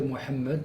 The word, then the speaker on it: Mohammed: bon, je prononcerai Mohammed carrément avec le H guttural puisque je parle arabe et je fais aussi des débats en arabe, c'est pas le problème.